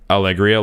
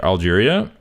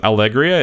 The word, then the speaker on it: Allegria: Why do you pronounce Allegria like Algeria? Grand Algeria. It's the meme. I pronounced it wrong by accident, and then people were like, what do you mean Algeria? And it became a meme.